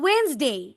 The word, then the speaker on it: Wednesday: বলো Wednesday. Wednesday. Wednesday. Okay. Nijhar. Would you please repeat from here? Nijhar. How to pronounce it?